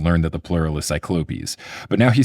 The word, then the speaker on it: cyclopes: From my understanding, cyclopes is the correct way to say it and cyclopses is just sort of how like language and like pop culture has said it for years.